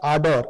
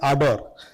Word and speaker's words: Ardor: we pronounce it as ador it's a r d o r where the first r is silent. So so it's like ador I'll just brief you